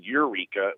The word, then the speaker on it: Eureka: There's two towns. I-5 goes through Yreka, and then Eureka with the E is on the coast.